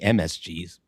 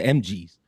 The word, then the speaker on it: MGs: It's not Booker T and the MSGs. That sounds like a Korean or a Chinese cover band. It's the MGs.